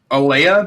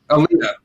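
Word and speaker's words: Aalyah: Um, I I think this is the right pronunciation. Aya Mysterio. Probably Aaliyah. I thought it was Ray's daughter. Aaliyah.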